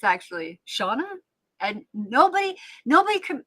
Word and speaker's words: Seanna: be, but it's the feminine version of Shawn. And Shawn in Ireland and John are interchangeable. And my my bloodfather's name is John. So I basically my name is Janna, but it's actually Shauna.